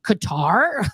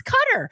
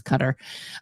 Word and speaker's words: Qatar: things differently I'll tell you what nobody ever pronounced cutter correctly we all were like qar like yes but apparently it's cutter so you know I this is something I